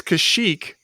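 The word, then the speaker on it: Kashyyyk: is that house wait how is it pronounced well it's kashyyk for some reason the one time you hear it in this the guy says kazuk kazuk are you serious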